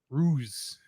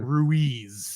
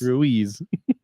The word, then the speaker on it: Ruiz: It wouldn't take Ruiz as spelled and pronounce it correctly. How did it pronounce it? Ruse. Ruse? Ruse. So it's Russian. Apparently. It's like, no, it's supposed to be Spanish, so I had to spell it out Rueez. And that's when it got Ruiz.